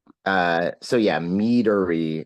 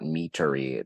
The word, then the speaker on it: meadery: I mean, again, this goes to, meadery with a D instead of a T. It's not meatery, like just in case I'm not pronouncing it clearly enough.